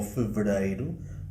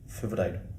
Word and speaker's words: fevereiro: I would say that us, in Coimbra, we are there in the middle so, for example, the word fevereiro (February), as they say in Porto, or fevereiro as you say it, we say something like fevereiro. That is, less A but not as much E.